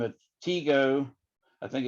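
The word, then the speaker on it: Tycho: by the name of teego i think it's t-y-c-h-o but i think it's pronounced teego tico brahe now he was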